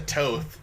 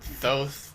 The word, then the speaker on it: Thoth: I've heard it pronounced Toth. It's Toth. By one of the guys that you went to see it with. Yeah, but it's... In the movie they pronounce it Toth. Yeah. I don't know. I've also heard it Thoth, so...